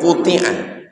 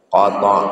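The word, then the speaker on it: قطع: Qo qo bukan qu. Wat qota bukan qutia itu menunjukkan membaca kitab itu banyak orang salah antara fi'il majhul dengan maklum. Qota yaq atau quti'a yuq. Maka Imam Nawawi menjelaskan ya cara membacanya qata.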